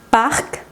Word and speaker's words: parc: Hay ciertas consonantes finales que sí se pronuncian. Es el caso de estas que ves aquí. Parc.